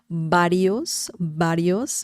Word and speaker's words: varios: But if you want to nail the pronunciation, then the sound is very similar to B as in bell, bell. Varios means several.